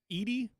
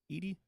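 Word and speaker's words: Edey: year but is uh how do you say his last name it's it's Edie it's e-d-e-y Edie the big 7-4 guy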